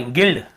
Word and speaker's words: gild: यहाँ पे देखिए गाइड, हम क्या पढ़ रहे हैं, GILD, यहाँ पे गाइड, सॉरी गिल्ड, गिल्ड लिखा हुआ, क्या लिखा हुआ, गिल्ड, देखिए गिल्ड, यहाँ पर भी हम यू को नहीं पढ़ रहे हैं।